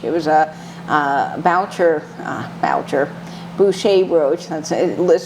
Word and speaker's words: Boucher: her poodle brooch it was a voucher voucher Boucher roach that's spelled like Badger but it's pronounced Boucher and I fell in love with that little